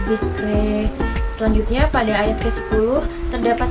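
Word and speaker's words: ذِكْرَىٰ: Perubahan kedua pada akhir ayatnya yaitu imalah pada bacaan dzikra sehingga cara bacanya menjadi fadzakir in nafa'atiz dzikri.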